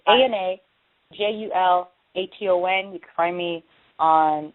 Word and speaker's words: Julaton: I get it mispronounced so many times. But it's Ana Julaton.